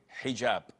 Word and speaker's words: hijab: with an h and I know in France they don't pronounce the h when it is in the beginning of the word as inel or Alo